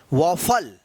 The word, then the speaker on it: waffle: अगर ए से पहले अगर W आता है तो इस ए का उच्चारण आप जो है ना औ कीजिएगा। तो आज के इस क्लास